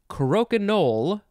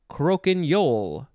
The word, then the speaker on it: croquignole: Next is croquignole or croquignole. It is spelled C-R-O-Q-U-I-G-N-O-L-E.